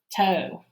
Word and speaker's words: toe: And the E is silent, the O is long.